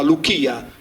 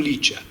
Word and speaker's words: Licia: con la Y iniziale e la CI più vocale si leggeva come la nostra velare, quindi diventa Luchia, non Licia.